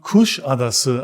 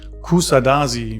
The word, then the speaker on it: Kuşadası: mal zur richtigen Aussprache diese Stadt spricht man kusadase aus nicht Kusadasi wie ich es oft von Touristen gehört hab bei kuschadesse handelt